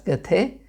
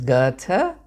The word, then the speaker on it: Goethe: Malayalis, of course, pronounce that name as Goethe. It is Goethe.